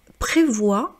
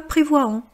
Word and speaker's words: prévoient: exemple comme lentement calmement mais lorsque c'est la conjugaison au présent au pluriel c'est muet donc prévoi pas prévoyant voilà donc prévoit de rester le weekend dans la ville pour tester la planche.